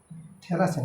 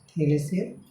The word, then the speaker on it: থেলেস: তাহলে এখানে বলবো যে থ্যালাসের উপপাদ্য থেকে, থ্যালাসের না থেলেসের হবে উচ্চারণটা, থেলেসের উপপাদ্য, থেলেসের উপপাদ্য থেকে